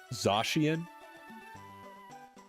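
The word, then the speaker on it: Zacian: Is it Zian or Zashian? I've heard it both ways fairly evenly. I don't want to have one of those moments. Zashian. Got it.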